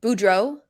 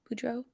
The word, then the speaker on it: Boudreau: if you want no he Bruce Boudreau but Boudreau right that's how you say his name Boudreau I never say his name right I don't